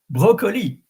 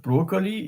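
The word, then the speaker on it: brocoli: So it is not broccoli, it's broccoli. And I think in English is the same. So in English, I would say broccoli. And in French, broccoli. The R is really important.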